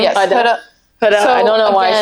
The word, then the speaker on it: Huda: Yes, Huda.